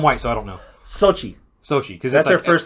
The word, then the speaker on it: Xochitl: How do you pronounce her name? I'm white, so I don't know. Sochi, because that's her first name.